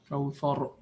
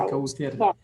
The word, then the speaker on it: Kawthar: Kawthar. We don't say kawthir. Kawthir.